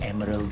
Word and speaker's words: emerald: <i>That would be great.</i> Emerald green, Kak Sal.